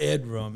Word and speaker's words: Edram: Let's talk about Ed room. Am I saying it right? Yes, you are. So, Edram is my late grandfather's middle name.